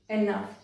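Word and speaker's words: enough: फिर कुछ वर्ड्स ऐसे होते हैं जहां पर जी एच को फ प्रोनाउंस किया जाता है।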